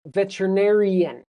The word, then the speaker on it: veterinarian: But you need that N sound at the end to make it a person. Veterinarian.